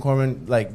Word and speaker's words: Corban: Corbin, I think, is a good guest for us. I think like the main things we kind of talk about and stuff. I think Corban is really, it's two syllables.